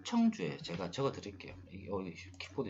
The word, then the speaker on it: 청주: 실효가 되면서 다시 조합으로 살아나기 시작하고 있는 것 같아서 인천이 내가 봤을 때는 인천이 아니고 청주가, 제가 발음이 안 좋은데 충주가 아니고 청주예요.